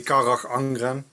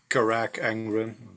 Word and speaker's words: Carach Angren: Yeah, I mean there are several ways to pronounce it. We say kak angrren. Oh boy. But a lot of people say karak angrren.